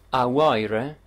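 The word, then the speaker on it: a Mháire: guardate come si iscrivono e la pronuncia con il vocativo è a wire e young ripeto a wired e hacking quindi se avete la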